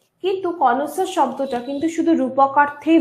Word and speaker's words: connoisseur: এটা কিন্তু কনয়েসার নয়, হ্যাঁ। অনেকে উচ্চারণ করেন ওইভাবে, কিন্তু এটা অ্যাকচুয়ালি উচ্চারণ হচ্ছে কনসার।